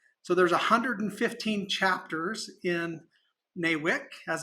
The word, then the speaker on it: NAWIC: So there's 115 chapters in NAWIC, as it's pronounced, that offer education, support, networking, and also help in advancing the careers in construction for women.